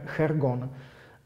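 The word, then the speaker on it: jergón: Jo, a právě třeba tady ta rostlina, to Dracolatium, ten jergon, on se to píše vlastně jakoby jergon, jo, vyslovuje se to v tom jazyce kečua, chergon.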